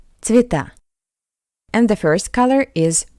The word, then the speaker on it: Цвета: I is stressed. Ye is unstressed. That's why we pronounce ye as I. Цвета.